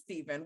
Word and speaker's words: Stephen: is actually spelt like stefan curry but it's pronounced steven which is a normal way to place to